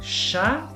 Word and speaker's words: chat: Chat Chat, es gato. gato. Vale, fíjate lo importante que es no pronunciar la T.